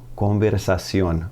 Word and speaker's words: conversación: T to a C, accent over the O. It's all about pronunciation at that point. Conversación, conversación.